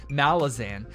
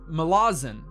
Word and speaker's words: Malazan: mela malazan i know everybody says this wrong everybody pronounces it malazan but the authors like that's not how you pronounce it it's malazan i believe something along those lines is the first book